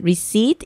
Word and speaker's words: receipt: 저렇게 발음은 안 나면서 써 있는 것들 있잖아요. 그러면은 외울 때는 receipt 이렇게 외우고 말할 때는 receipt 이렇게 말해요.